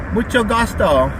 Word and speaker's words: mucho gusto: Mucho gusto. Close. It's mucho gusto, with a CH sound like in chocolate. You almost had it. Mucho chocolate. No, mucho gusto. Chocolate. I like chocolate. That's it. Mucho gusto.